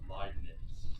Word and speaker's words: Leibniz: roughly the same time his name is uh leibniz that's how i pronounce it it's german i've took two years